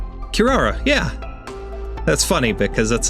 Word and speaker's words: Kirara: let's see hold on let's see how to pronounce her name Kirara yeah that's funny because that's a that's a